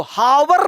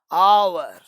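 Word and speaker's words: hour: इसको हावर नहीं बोलेंगे, हावर, इसको बोलेंगे आर, आवर, और घंटा घंटा वो टाइम वाला घंटा, 1 घंटा 2 घंटा वाला है ना।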